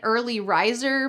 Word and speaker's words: early riser: I'm usually an early riser, but this morning I overslept. Make sure you pronounce the hard Rs in this phrase.